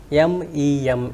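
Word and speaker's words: meme: I have focused is m e m e that is mem and not M so we have uh learned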